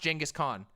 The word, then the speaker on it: Genghis Khan: It's pronounced Genghis Khan.